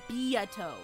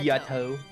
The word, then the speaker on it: Beato: It's pronounced Beato. Or Beato. Beato.